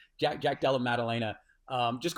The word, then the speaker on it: Della Maddalena: I like how you corrected the pronunciation by pronouncing it incorrectly again um just kidding it's Jack Jack Del Melena um just call him JDM um dude this